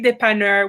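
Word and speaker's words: dépanneur: dependent or so so the corner store in quebec is called the dependent french the english speakers in montreal we don't even say de panner we say dep anybody outside of montreal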